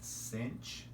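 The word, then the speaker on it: sinh: And then some people also call this, just for short, they call it cinch. So maybe I'll just like try and spell it cinch like that, S-I-N-C-H.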